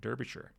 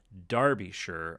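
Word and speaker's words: Derbyshire: of the Atlantic um the word shire is more like sure or something. So, I thought I was ahead of the ahead of the game saying derbisher, but apparently it's pronounced darbishure or derby.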